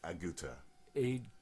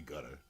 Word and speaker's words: Agutter: It looks like the way it's spelled, Yeah. it's like Aguta. Jenny Agutter. Yeah. Aguta. Something like that. Yeah. Because you don't want to say Agutter. Yeah. It's Aguta.